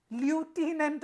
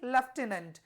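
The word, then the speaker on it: lieutenant: ल्यूटिनेंट मत पढ़ दीजिए। ठीक है, यहाँ यू को इधर से इधर कर देता हूं। ठीक है, ये हो गया आपका ल्यूटिनेंट, नहीं लेफ्टिनेंट। जैसे इसमें आप कर्नल का भी स्पेलिंग याद कर लीजिए, COLONEL।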